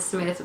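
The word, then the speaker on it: Psmith: The P, you see, is silent, and he put it there himself. If you ever have occasion to write me, would you mind sticking a P at the beginning of the name? P-S-M-I-T-H. See?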